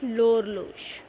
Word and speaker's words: l'horloge: it is L apostrophe because it starts with the letter H, so it is L apostrophe. And how are you going to pronounce it? L'horloge.